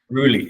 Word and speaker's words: Rulli: joined by Joseph is it Ry Ry yeah Ry yeah because I wondered with the pronunciation for that and um I should be